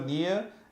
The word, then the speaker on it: Nia: Is it N-I-A? Yes. It's just Nia? Like Yes. Nia Long? Like Mia.